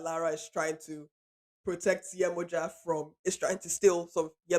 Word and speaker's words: Yemoja: Um, so a bit about the origin story of Oko, and this is where Yemoja or Yemaya, there's sort of more diaspora pronunciation.